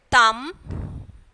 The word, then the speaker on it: thumb: Next one is thumb. So here B is silent, and then climb, again B is silent, and then bomb, B is silent.